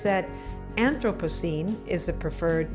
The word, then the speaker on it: Anthropocene: age we may be entering she says that anthropocene is the preferred pronunciation rather than anthropocene well i got to tell you molly i've